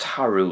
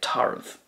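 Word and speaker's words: tarbh: That could be pronounced taru as well, but I would say tarv.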